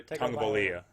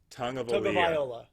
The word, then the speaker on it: Tagovailoa: Tua, I always mispronounce his name. Tua Tagovailoa. Yeah. Tua Tagovailoa. Viola, that's right. Yeah, Viola. I know. I used to practice it when I thought the Bengals were going to pick him, but then Burrow came out of nowhere, so I kind of think I lost it. But right. Tagovailoa. Tagovailoa. Yeah. Tagovailoa. It's Tua Tagovailoa. I will remember this, and I will say it right from now on.